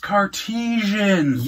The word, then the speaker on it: Cartesian: car Titian car cartasian Kardashian it's pronounced cartesians yes it is and